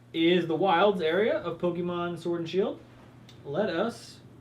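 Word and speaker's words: Pokémon: pokemons sword and shield we just played it Pokemon that was pretty cool I mean whoa c'mon ya know people that pronounce it with the oh it drives its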